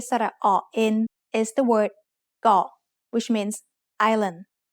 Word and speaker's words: เกาะ: เกาะ also follows the same tone rule we just learned. กอไก่ is a middle class initial consonant, and สระอ is a short vowel that gives us a dead syllable. So เกาะ is low tone.